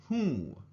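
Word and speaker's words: हूँ: verb form a is who now this is also one of those nasal sounds when you hold your nose you should feel it vibrate when you say whoo-whoo right so may Who I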